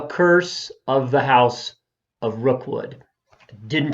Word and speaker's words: Rookwood: I started calling it Rockwell. I started calling it Fall of the House of Rockwell. But really, what I meant to say is The Curse of the House of Rookwood.